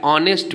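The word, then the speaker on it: honest: तो यू आर एन ऑनेस्ट बॉय तो ऑनेस्ट बॉय तो ऑ ओ का उच्चारण होने के कारण यहां इसके सामने एन लगा हुआ है एच क्या है साइलेंट है नेक्स्ट है विजय इज एन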